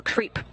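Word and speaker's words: KREEP: a weird component that we call creep and it's spelled k r e e p and Central potassium Rare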